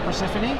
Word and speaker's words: Perciphone: And I'm here with Rachel Perciphone. Hello. How did I do? Did I pronounce it right?